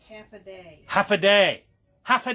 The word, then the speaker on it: Hafa Adai: It says it's pronounced half a day.